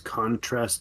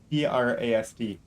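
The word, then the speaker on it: Khon-Trast: The con is Khon, and then there's a dash, and then it's Trast. Trast.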